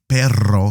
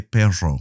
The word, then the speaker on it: perro: If you struggle pronouncing the perro sound, you can say perro. Some Spanish countries pronounce the double R a little bit softer.